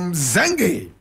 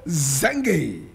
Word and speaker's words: Mxenge: She was born Victoria Nonyamezelo Mxenge. Victoria Nonyamezelo Mxenge. And Nonyamezelo is spelled N-O-N-Y-A-M-E-Z-E-L-O.